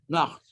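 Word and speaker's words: naught: Nacht. So before whom all else is as not. You don't pronounce the GHT.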